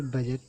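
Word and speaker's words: budget: इसमें भी बजट, ये डी साइलेंट है।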